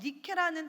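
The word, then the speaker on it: νίκη: 요한이 4절에서 말하는 이기는이라에 사용된 헬라어 니케라는 단어는 완전한 승리를 뜻하는 말입니다.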